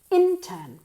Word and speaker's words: intern: okay opposition Ro oros intern emphasis on the first syllable intern very good assistant assistant